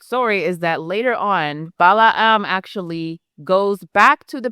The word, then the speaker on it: Balaam: And if you think about what happens in this scenario, you have Balaam, or Balaam, I think is the way to pronounce it, who is a prophet, right?